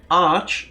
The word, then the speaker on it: Arch: that's probably why yeah Arch is the short version for archives so you pronounce it like my arch in archives exactly moving on it's